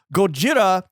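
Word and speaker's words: ゴジラ: a word like oh like but like yo gojira is the proper pronunciation you are the dumbasses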